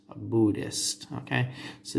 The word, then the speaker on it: Buddhist: religion is called a Buddhist a Buddhist okay so the H is silent Buddhists now Buddhism encompasses